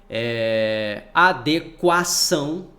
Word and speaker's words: adequação: Adequação, tá? Esse U é pronunciado lá, adequação, tá?